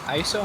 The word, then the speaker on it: ISO: control on the goal line, whereas, is it ISO, am I pronouncing that correctly?